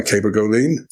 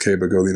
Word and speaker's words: cabergoline: I think I pronounce it Cabergoline, but it's the CER, right? Is that the one we're talking about? Yeah. Yeah, just different pronunciation.